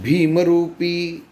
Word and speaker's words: भीमरूपी: कैसे होता है कि भीमरूपी महारुद्रा वज्र हनुमान मारुति कि यह जो है भीमरूपी यह देखिए भी शब्दों के ऊपर जोर है कि भीम करो अभी